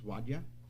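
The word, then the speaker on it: Wajda: the council know yes um henry wilhelm after pronounces wadia w-a-j-d-a who was raised in newmarket and graduated new york high school in 1952.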